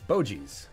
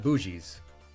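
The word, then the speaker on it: Boursin: like food Club food lion Great Value Bois Bois that's how you say it Bois not bougis OG's cheese last a good long while typically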